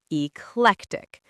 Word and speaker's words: eclectic: For pronunciation, pay attention to eclectic with stress on the second syllable, eclectic.